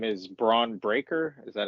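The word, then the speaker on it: Bron Breakker: steiner's nephew nephew okay and his name is braun breaker is that how you pronounce it yes okay so he's he's the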